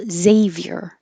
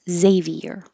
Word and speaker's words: Xavier: at the beginning and it could have two syllables Xavier or three syllables Xavier like Xavier University and intriguing is the